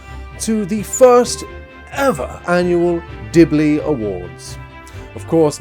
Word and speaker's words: Dibble: A huge warm welcome to the first ever annual Dibbley Awards. Of course, my name being Dibble, not to be mispronounced as Dibbley, even though that just sounds better for the awards for maximum confusion.